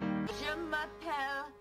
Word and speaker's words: je m'appelle: